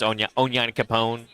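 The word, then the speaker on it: Onyankopon: I like how they say it in the anime if you watch the dub. Oh, yeah? It's Onya Capone.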